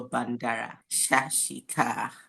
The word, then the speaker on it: Bandara Shashika: I hope I pronounced your name perfectly. Yeah, you got it right.